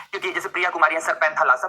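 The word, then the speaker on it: Panthalassa: क्योंकि जैसे Priya Kumari sir पैंथालासा, मैं बोल तो रहा हूं, जो मैं बोलूं उसे बोलो एक बार प्रोनाउंसिएशन में।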